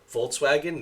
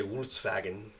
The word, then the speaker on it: Volkswagen: it's pronounced right because in Germany the the V and the W are switched sounds so we say Volkswagen they say Volkswagen I'm gonna still say